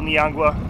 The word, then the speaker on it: Niangua: They said usually it's like March, April is probably the best month for them to come up this Little Niangua, that's how you pronounce it.